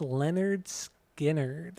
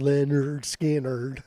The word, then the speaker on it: Lynyrd Skynyrd: so my number two is the first record pronounced Leonard skinnard I don't think so that is my number